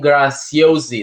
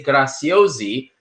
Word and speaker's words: Graziosi: And then I saw once he was presenting another Italian American, Dean Graziosi. They say Graziosi, but in Italian it's Graziosi. It's Z. Zorro.